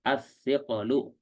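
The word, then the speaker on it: الثقل: Ya, karena dhammah di sini terhalang oleh berat pengucapannya, yang disebut as-siqalu. Afwan, qafnya tanpa tasdid ya, qafnya tanpa tasdid. As-siqalu ya. Ininya satu saja ya.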